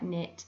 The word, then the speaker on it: knit: So J can be spelled DGE in fudge and hedge, and N can be spelled KN with a silent K in words like knit and knot.